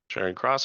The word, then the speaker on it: Charing Cross: Chairing cross.